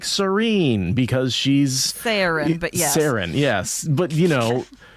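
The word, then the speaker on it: Saerin: how she's getting to like Serene because she's Saren, but yes. Saren, yes. But, the way I pronounce that word in my head is Serene, right?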